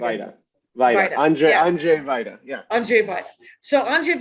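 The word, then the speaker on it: Andrzej Wajda: Andrzej Vajda.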